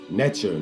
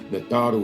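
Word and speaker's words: Neteru: You know, we said things like Natharu, Netcher, Netter. You know, that's more watered down, Netter and Netcher. Natharu is the proper pronunciation.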